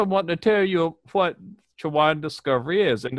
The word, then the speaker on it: Chowan: First, I want to tell you what Chowan Discovery is, and it's pronounced Swan.